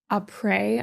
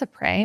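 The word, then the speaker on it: après: doing a really big a pre a pre theme. I think it's a prey.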